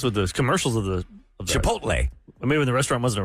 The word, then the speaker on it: Chipotle: on the list of the things that are mispronounced words to make you sound dumb some people really have a hard time saying Chipotle H I used to say chipot I guess with the commercials of the Chipotle maybe when the restaurant wasn't around maybe people